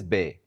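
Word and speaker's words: بے: It is called bay just like the English word bay as in a bay of water.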